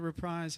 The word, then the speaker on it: reprise: The reprise have it. We're going to do a reprise of More Love. A surprise reprise. I'll just remember. That's good. I'll remember rhymes with surprise.